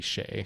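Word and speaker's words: Skjei: drunks you don't remember it's Brady Shay Shay I don't know why I say ski Shay sh because that's how it's spelled so it's sh he's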